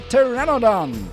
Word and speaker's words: pteranodon: And now comes the question if you can see and hear the pteranodon. The P is silent by the way.